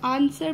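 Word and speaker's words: answer: W silent होता है, आंसर में भी W साइलेंट होता है, यानी कि जो साइलेंट लेटर्स हैं उनके नीचे आपने अंडरलाइन कर देने हैं।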